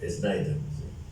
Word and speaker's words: Schneider: Athanasius Schneider, Sí, así se pronuncia. Snyder.